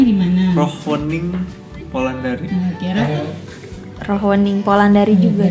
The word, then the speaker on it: Rochwening Polandari: Rohwening Polandari. Nah, kira Rohwening Polandari juga sih. bener, udah bener. Ya benar semua. Mbak. Emang kenapa? Artinya Ada yang salah? Enggak. Ada beberapa orang panggilnya Rothschwening.